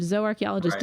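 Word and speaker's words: zooarchaeologist: Um there is such a thing as a zoarchchaeologist and zoarchchaeologist is zoo archaeologist but pronounced in the Latin way.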